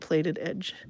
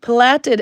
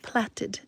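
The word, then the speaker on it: plaited: your working yarn that is what causes that plated edge. Plated edge platted edge sorry the British people are laughing at me. Platted edge it's spelt like plate p l a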